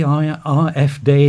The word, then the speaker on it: AfD: why exactly was the IRF day there so are using the German pronunciation so AF D what did they hope